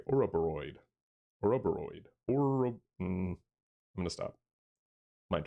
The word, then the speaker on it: Ouroboros: I pronounced it correctly. Ouroboros.